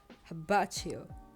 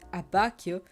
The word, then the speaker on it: Abbacchio: think it's adorable actually I love to hear habach you it will be abako but I've heard aacho a lot of times oh and